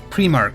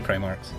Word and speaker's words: Primark: Primark, sorry, is how it's pronounced. I'm pronouncing it Primark because of the bloody 40k Primarks.